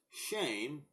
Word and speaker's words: Shem: what does the name Shem mean it is pronounced shame and it also literally